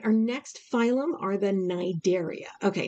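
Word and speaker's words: Cnidaria: next phylum are the nidaria okay now it's spelled c-n-i-d-a-r-i-a the c is silent why i don't i can't okay i don't it's just it is it's the knight area is how we say it these are uh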